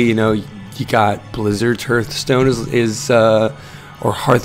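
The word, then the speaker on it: Hearthstone: want to pronounce it I've always said but uh because like hear and home you know but apparently people uh people don't pronounce it that way they say Hearth hearth stone is really nice for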